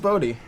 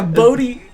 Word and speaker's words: Bodhi: His name is I thought it was Bodhi Rook. Bodhi Rook. I'm pretty sure it's pronounced Bodhi. Yeah, Bodhi.